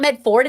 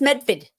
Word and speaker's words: Medford: It's not Medford, it's Medford.